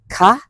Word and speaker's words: คะ: Note that in this case, ka is pronounced with a high tone.